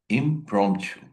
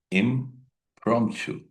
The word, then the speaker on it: impromptu: Dear friends, this is also called impromptu. Pay attention here how to pronounce this word. We have to pronounce this P and this P both. Look at it. Impromptu. Once again, impromptu which is spoken then and there.